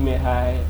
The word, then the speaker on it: Meghai: On Instagram, Baby MEGHAI. On Twitter, Baby MEGHAI. On Threads, Baby MEGHAI. On TikTok, it's Baby MEGHAI. So Baby MEGHAI, Baby BAEBY, MEGHAI MEGHAI. The G is silent.